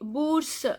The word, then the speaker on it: bourse: Les bourses, scholarship, plural noun. Bourse is OU sound is U. Bourse, this S is silent.